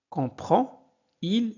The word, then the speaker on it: comprend-il: Comprend-il cette explication? Alors, si le verbe se termine par D, alors ce D se prononce T.